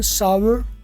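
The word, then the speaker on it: sour: Milk has gone सावर या turned सावर। आप कहोगे सर ये तो सोर लिखा हुआ है। हाँ, कहीं दुनिया सोर भी बोलती है, लेकिन प्रॉपर इसकी जो प्रोनाउंसिएशन है वो सावर है।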